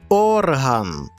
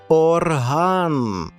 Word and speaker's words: орган: взагалі будь-яка частина організму це орган та варто перенести на на другий склад і ми отримаємо назву музичного інструменту орган на сьогодні все друзі